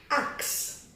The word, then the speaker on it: axe: So the sound of X is Ks and E is silent.